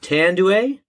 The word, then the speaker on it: Tanduay: spider king and we'll be pairing that with tanduay am i saying that right tend to a